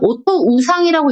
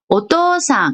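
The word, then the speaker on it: おとうさん: 자, 그 다음에 5단, 오코소토노 나가는 5단 뒤에 우가 왔을 때도 길게 발음해요. 오토 우상이라고 읽지 않고 오토상 이렇게 읽어요.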